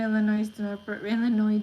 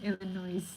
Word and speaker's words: Illinois: um that's true pronunciation people in Illinois do not pronounce pronounce the S but some people in Texas say that yes in Illinois oh I like how